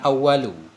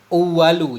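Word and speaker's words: الأُوَل: Ada yang bilang ini kita baca bukan awwalu. Uwalu jamak dari ula. Karena 10 tadi kan, kalau muannas muzakkar pasangannya muannas. Tapi saya lupa baca di mana ya. Bacanya harus uwalu.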